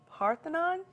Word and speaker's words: Parthenon: Now, when we went to Greece, the main thing that you got to see is the Parthenon. Did I pronounce that right?